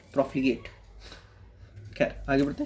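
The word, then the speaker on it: profligate: प्रोफिगेट।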